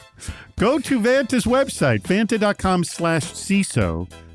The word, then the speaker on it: Vanta: Remember, Vanta rhymes with Santa. So, how can it not be fun? I think it rhymes with Fanta. So, it's very bubbly and physio. Bubbly. Vanta.